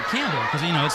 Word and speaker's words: Campbell: his last name wrong you said camell you didn't pronounce the p and he made the